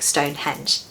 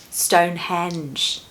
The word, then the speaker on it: Stonehenge: Keep that O in stone really round and elegant and beautiful. Stone, stone. And the GE in henge is a J sound. Henge, J, henge. Oxford.